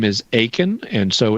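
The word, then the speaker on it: Akin: just like it sounds my last name is aen and so it's spelled a k i n there are no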